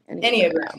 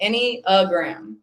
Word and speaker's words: Enneagram: Enneagram. That's how you say it. Enneagram.